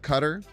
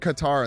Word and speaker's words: Qatar: It is like cutter. You see, one person said Qatar and the two people say cutter. Uh I think we have the Starlord next turn. Ha. cutter is closer to his Arabic pronunciation, but I've heard guitar more often.